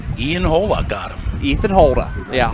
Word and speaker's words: Holda: Ethan Holda. Yeah, Hola. Ethan. Yes. You got the first name wrong, I got the last name wrong.